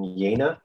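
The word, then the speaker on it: Jena: to do one show in may here in yena which is spelled like jamma with one hand and it's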